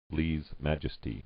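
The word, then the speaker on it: lèse-majesté: Is it Lessie or Lessa? Lee's Majesty. It's not, it's Lee's. Oh my god, it's Lee's Majesty.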